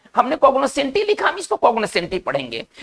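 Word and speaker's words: cognoscenti: इसका हम उच्चारण करेंगे कॉग्नोसेंटी। और ये एक इटालियन वर्ड है।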